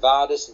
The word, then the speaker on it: Vadis: and i better spell that q-u-o separate word vardis v-a-d-i-s and there's a comma and the word